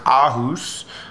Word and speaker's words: Aarhus: My Danish is horrible, but I believe it's pronounced Aarhus.